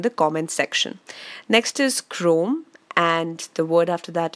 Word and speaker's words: chrome: those words in the comment section next is Chrome and the word after that is grown so guys focus on the pronunciation here while CH r om is chrome